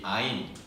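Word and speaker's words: עין: 22개의 알파벳이 반복되어서 176구절을 이루고 있는데 오늘은 16번째 히브리어 알파벳 이 아인, 이 Y자처럼 생겼죠. 저걸 히브리어로 아인이라고 읽습니다.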